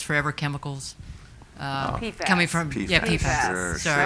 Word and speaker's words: PFAS: Concern about PAFAs, forever chemicals. PFAS.